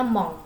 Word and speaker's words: mon: Jadi kalau mon dibacanya mong ya, mong ya. Jadi itu ada sengau di situ, eng ya. Setiap huruf n itu dibacanya eng ya.